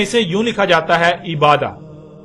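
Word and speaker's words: عبادة: لکھا جاتا ہے عبادہ، اور جب عربی لہجے میں اس لفظ کو پڑھا جاتا ہے تو تیز ساکت ہو کر ہے کی آواز میں بدل جاتی ہے، یعنی اسے عبادہ پڑھا یا بولا جائے گا۔ عربی کا لفظ عبادہ جب اردو میں شامل ہوا تو اسے عربی کی بجائے اردو لہجے میں تے کے ساتھ بولا گیا اور بولا جاتا ہے، یعنی عبادت۔ اب آتے ہیں اس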